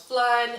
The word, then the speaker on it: Phlearn: One channel that taught me a lot was Flearn. I will link it in the description below, but it's spelled Phlearn. So it's like Photoshop Learn.